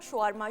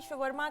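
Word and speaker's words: shawarma: And what about शॉर्मा? शॉर्मा कहते हैं, शवरमा कहते हैं, मुख्तलिफ लोग मुख्तलिफ तरीकों से इसको प्रोनाउंस करते हैं।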